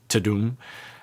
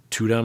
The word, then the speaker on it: Tudum: I've never heard how they uh how you pronounce the Netflix website Tadum. I always thought it was like Tudum or something.